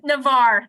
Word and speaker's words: Navarre: or more in North Lawrence and in Navarre Navara somebody will have to tell me some time how to pronounce that we got it Navarre thank you thank you um shifting again to